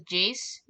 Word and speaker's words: Jace: uh her name was jace uh it's i don't it was it was like chase but with a j jace it was chase